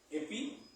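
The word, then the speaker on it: ἐπί: La la palabra sobre en griego es epí. Acento en la I.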